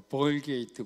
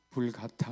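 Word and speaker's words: Vulgata: 성경을 불 가다라고 합니다 미국 사람은 미국식으로 발음을 하더라고 벌게이트 벌게이트 하는데요 그냥 라틴어는 불같다 합니다 것은 평이한 이런 뜻인데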